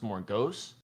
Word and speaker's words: Morgausse: a rogue called Morgausse, which she pronounced Morgausse, which is after like this sorcerer and Merlin or something in the Camelot stories.